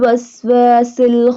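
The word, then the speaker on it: الْوَسْوَاسِ: Waswasil, seen pronounced like a whistle sound.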